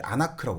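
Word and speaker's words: ἀνάγκη: 영화에도 딱 글자 보여주면서 이게 아나크라고 발음하더라고요.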